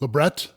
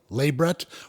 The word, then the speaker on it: labret: labret labret lei Brett we're talking about the lower center lip piercing how do you say it stick around I'll tell